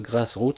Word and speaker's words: GrassrEuts: Donc ils peuvent télécharger l'application Grass Rout. Ça s'écrit G R A 2 S R E U T S mais ça se prononce grass route. C'est un jeu de mot.